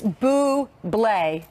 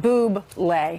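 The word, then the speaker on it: Michael Bublé: but how do you it's boo bleh it's not boob leg right so that's how you put the consonants in meanwhile this gonna be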